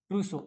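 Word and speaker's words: trousseau: ठीक है ना प्रसो ये स्पेलिंग ध्यान दो ट्रूसो ये फ्रेंच लैंग्वेज से आया हुआ शब्द है बच्चा ट्रूसो कहां का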